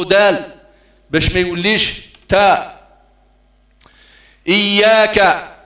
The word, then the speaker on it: إياك: إياك إي إي إظهار الهمز في حرف الألف، إي ما تقولش آ، إي يا مع تشديد الياء، إياك إياك إياك نعبد. كثير من إخواننا سمحهم الله يقرؤون إياك، لا هذا خطأ، إياك